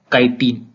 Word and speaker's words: chitin: There cell wall is made up of tough and complex sugar called काइटिन। अभी spelling CHITIN है, लेकिन इसका जो प्रोनाउंसिएशन है वो काइटिन है।